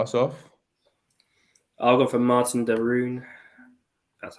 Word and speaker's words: Martin de Roon: you can start us off I'll go for Martin de roon that's how you say it um mainly because